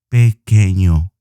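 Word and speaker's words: pequeño: this with my palms three syllables simple easy pe queno my cat is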